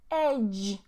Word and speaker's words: edge: Edge, edge, edge. E is silent at the end, and this is pronounced as a J sound.